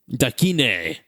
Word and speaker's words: Dakine: years old, when I learned how that was pronounced. Dakine. Contigo. Kevin says gear. Andy says surf. Also the name of Dog the Bounty Hunter Bail Bond Company. Yeah. It was Okay. Dakine bail bonds.